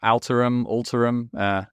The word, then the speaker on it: Alterum: Yeah, Alterum. It's the root word for alter or alternative. So it's however you want to pronounce that.